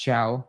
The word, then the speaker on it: Thiaw: By the way, Tiao is pronounced ciao. He said it himself in interview.